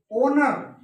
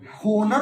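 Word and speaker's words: honour: ओनर तो ओनर है, ये ओ आ रहा है देखो, ओ होनर होना चाहिए था, ओनर एच साइलेंट।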